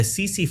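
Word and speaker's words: tsetse: cc fly the spelling is t-s-e-t-s-e but it's pronounced as a cc flies these are in african continent and these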